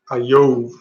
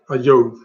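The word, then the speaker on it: איוב: Ayov. Ayov. It's like love, right?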